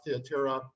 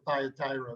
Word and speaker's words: Thyatira: let's move on to Thyatira. I pronounce it the Greek way. I know in America everybody says Thyatira, but it's I'm influenced here.